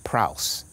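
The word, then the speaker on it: praus: rendering of the word the greek word pras it rhymes with house which at its root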